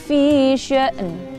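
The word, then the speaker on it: في شأن: Jadi membaca hamzah yang sukun dan nunnya ini terdengar jelas. Kulla yaumin huwa fi sya'n.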